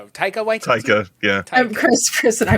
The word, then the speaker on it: Taika Waititi: If Takiki Watiti, I'm saying his name wrong. Kiki Waititi. Thank you. Oh, I love that. This is Taika Waititi.